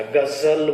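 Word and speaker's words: ग़ज़ल: जैसे नॉर्मली अगर हम ज लिखते हैं, जल बोला आपने तो जल उच्चारण होगा, लेकिन जैसे ही हम ये लिखते हैं ध्यान देना तो यहाँ पर जो जौ को बोलते समय वो घर्षण आएगा, गजल बोला जाएगा, फिर गजल नहीं बोला जाएगा, जौ नहीं बोला जाएगा, ज बोला जाएगा, गजल।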